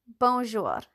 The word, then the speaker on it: bonjour: Bonjour. It's as simple as that. Two syllables.